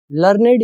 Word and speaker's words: learned: इस वर्ड का जो प्रोनाउंसिएशन है वो होता है लर्नेड। एक आपने वर्ब के रूप में भी पढ़ा होगा, एक होता है लर्न first form, second form होती है लर्नड, ठीक है, और थर्ड फॉर्म भी होती है लर्नड। और ये क्या है लर्नेड। दोनों की प्रोनाउंसिएशन में फर्क है।